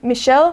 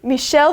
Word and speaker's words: Michel: So it's not Michelle like the girl version of Michelle, even though it's pronounced the same.